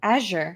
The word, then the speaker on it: azure: says your mother fathers know that azure is said with a soft z wait how do you say azure azure oh azure oh okay